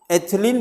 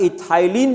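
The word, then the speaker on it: ethylene: एथिलीन बोले या इथाइलिन बोले, जो भी प्रोनाउंसिएशन यूज करिए, क्योंकि मैं तो हिंदी मीडियम का पढ़ा हुआ हूं, ठीक है।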